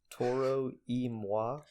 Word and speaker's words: Toro y Moi: murder this pronunciation but I'm pretty sure it's pronounced Toro y Moi it's Toro space Y space mo I and I think it's like Taurus II like Spanish and then wha like French I think I don't